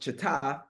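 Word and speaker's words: חָתַת: Dismayed in Hebrew means, in Hebrew it's pronounced chata, and in Hebrew it's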